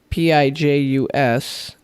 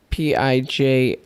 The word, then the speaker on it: Pijus: So we just got a message on Windows Open that says, "Hey man, it's PIJUS, not PIJIUS."